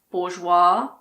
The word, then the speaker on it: bourgeois: Some of the most common ones are aisle, bourgeois, debris, island, and aisle. Yes, the first word and the last word are pronounced the same.